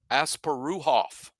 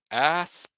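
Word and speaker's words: Asparuhov: His last name is properly pronounced Asparuhoff. Asparuhoff. The R-O-O is how you say that in the middle, right?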